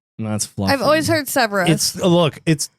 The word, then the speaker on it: Severus: Severus.